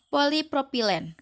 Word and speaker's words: polipropilen: Dibacanya polipropilen.